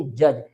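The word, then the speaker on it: judge: है जैसे D sorry जे यू डी जी ई इसको क्या रीड करेंगे हम इसको रीड करेंगे जज यहां पर आप देखें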